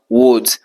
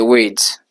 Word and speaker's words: weeds: Alors, il y a beaucoup d'entre vous, vous prononcez ce mot en disant woods. Ce n'est pas woods, c'est weeds. Ok? Weeds.